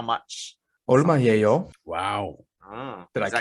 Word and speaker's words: 얼마예요: 얼마예요? Wow. Did I Is that kill it? correct, professional? Yeah, that's a native pronunciation.